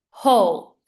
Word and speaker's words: whole: I said bowl whole W is silent silent And the last